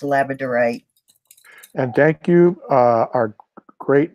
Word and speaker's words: labradorite: from Canada she's right right way to pronounce it and that's laziness on my part but it is pronounced labradorite and thank you our